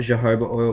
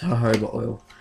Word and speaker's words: jojoba: or jojoba oil um people call it jehovah oil but that's not how you smell it it's i don't know how you say it it's jojoba oil um it's really good